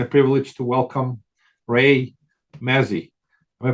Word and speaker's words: Mazzie: my pleasure and a privilege to welcome Ray Mazzy am I pronouncing your name correctly Ray yeah well done